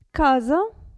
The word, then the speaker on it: casa: Adesso, S tra due vocali, attenzione a come si pronuncia. Casa, presa. Casa, presa. Quindi non si pronuncia ps, come se fosse una S.